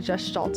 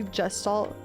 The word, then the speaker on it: Gestalt: Did I say gestalt? Gestalt. Sorry. Wait, no, it has a soft G.